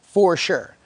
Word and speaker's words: Frochower: with our REMM, Angie, spelled Frochower, but pronounced for sure. Uh, so when I interviewed Angie, I I read on the application or excuse me, on the resume, I read it as Fresh Hour.